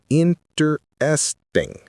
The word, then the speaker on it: interesting: I explained that Americans compress this word heavily. He resisted at first because it felt like lazy pronunciation, but I showed him video clips of professors, news anchors, and everyday people all saying interesting. He realized it wasn't lazy. It was standard.